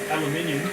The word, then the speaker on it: aluminium: Vitamin, How about aluminum? aluminium, There you go. I mean, Is that really how you say it? Yeah. That's awesome. Aluminium. aluminium, yep. I'm from Australia.